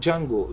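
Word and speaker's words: Django: bir motosiklet sonra Peugeot di jango yazıyor ama jango diye okunuyor bakın farın güzelliğine bakın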